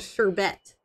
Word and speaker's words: sherbet: I see sherbert too, but then someone pointed out that there is no R at the end of sherbert. It's actually, it's spelled sherbet.